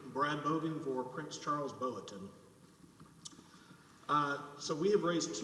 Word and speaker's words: Boateng: can correctly pronounce his name botan okay thank you mr bogan may please the court brad bogan for prince charles boweton uh so we have